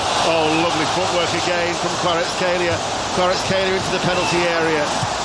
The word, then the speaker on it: Kvaratskhelia: It's pronounced Kvaratskhelia.